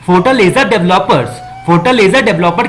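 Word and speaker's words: Fortaleza: इसको हम लोग हिंदी में क्या प्रोनाउंसिएट करेंगे? फोर्टालेजा।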